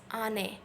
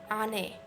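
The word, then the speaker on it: 안 해: and the pronunciation is ane. So you can hear that the hiet is not very fully pronounced, ane.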